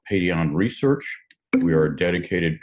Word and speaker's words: Paidion: It is pronounced Paidion.